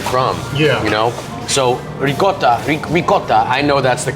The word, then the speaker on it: ricotta: So I know to say ricotta is like the worst.